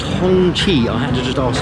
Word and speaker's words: Hongqi: It's pronounced Hongqi.